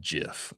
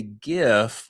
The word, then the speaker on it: GIF: And yes, the long-running debate, the creator Steve Wilhite insisted it is pronounced GIF, like the peanut butter. Wow. It is pronounced GIF, like the peanut butter. But now listen here. Most people say GIF with a hard G.